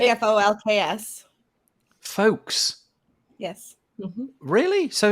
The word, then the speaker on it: Folx: The word is spelled Folx, and I've never said it out loud. It's like Folks.